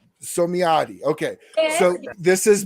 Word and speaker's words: Psomiadi: I am the worst at pronouncing names. How do you say your last name? My name, Psomiadi. Psomiadi.